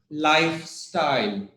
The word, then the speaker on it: lifestyle: word which we have lifestyle live lifestyle so very stress lifestyle lifestyle its LIF lifestyle the first part okay okay so see